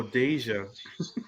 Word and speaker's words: Deja: Because I said Daha. Deja? Oh, Deja. Uh huh. This is my cousin name, so I know.